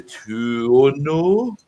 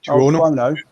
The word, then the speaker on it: Tuono: The Aprilia, and I always struggle to pronounce this bike. The Tuono. Tuono.